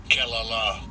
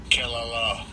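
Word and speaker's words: קְלָלָה: And I'll give you a pronunciation of it. Strong's H 7045. Kelala. Kelala. Kelala.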